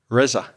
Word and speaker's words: Reza: Reza. With more of a at the end. I'll tell you what, say first my name and then say the tool quickly, one then the other. Reza, razor.